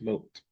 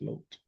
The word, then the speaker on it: Lot: His name is pronounced Lot. Not Lot, it's Lot.